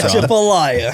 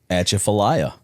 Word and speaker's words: Atchafalaya: So I want you to pronounce this bridge name for me. All right. Atchafalaya. Yes, he got it wrong. Yeah, Chipolaya. How do you say it? A Chaffalaya. Atchafalaya.